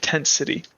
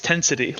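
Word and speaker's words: Tentsity: at the edge of tent city and it's pronounced as one it's not Tent City it's tensity like one word the density lays before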